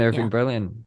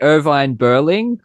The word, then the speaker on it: Irving Berlin: And Irving Berlin, whose name I'm actually pronouncing correctly for a change cuz usually I'd say Irvine Berling or Irvine Berlin or Irving Berling.